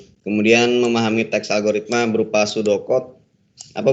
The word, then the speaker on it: pseudocode: Kemudian memahami teks algoritma berupa pseudocode. Apa bacanya tadi? Pseudocode, Pak. Pseudocode ya, huruf P-nya hilang. Seperti kayak psikologi, kayak psikis, itu huruf P-nya hilang kalau dibaca ya di depan itu. Jadi bacanya langsung pseudocode.